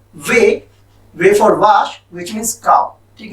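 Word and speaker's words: Wi-Fi: French में हम इसको वीफी बोलते हैं और इंग्लिश में हम इसको बोलते हैं वाईफाई।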